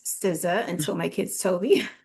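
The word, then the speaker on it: SZA: Siza which I didn't even know how to pronounce Siza until my kids told me.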